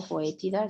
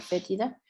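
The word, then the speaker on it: fetida: La Eisenia fétida, fétida o foétida, si lo pueden encontrar, pues se pronuncia fétida.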